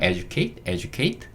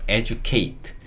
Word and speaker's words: educate: 그래서 educate 요렇게 읽을 수 있는데, 요거 빨리 읽다 보면 educate. 약간 듀 소리가 주 소리처럼 발음될 때가 있습니다. 그래서 educate. 혹은 뭐 educate 둘 다 가능해요.